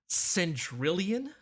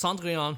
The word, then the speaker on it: Cendrillon: this song title, and I was pronouncing it as centrillion, like a number. And I'm just like, Now I know though. Now I know better. It's Cendrillon, right?